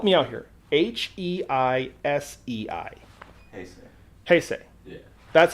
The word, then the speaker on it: Heisei: Heisei. Yeah. That's how it's pronounced.